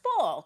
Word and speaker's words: FFFL: Another way you are empowering women is through hashtag FFFL, which is pronounced full.